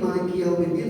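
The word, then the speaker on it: مالك يوم الدين: Maliki Yaumiddin. Manya mantumi panjang 2 harakat, likinya 1 harakat, yaunya boleh 2 harakat, boleh 1 harakat karena ini mengandung isim mengandung madlin, mengandung ya.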